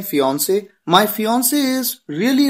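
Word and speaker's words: fiancée: Pronunciation बिल्कुल same होती है, स्पेलिंग में एक ई एक्स्ट्रा आ जाता है जब बात किसी लड़की की हो।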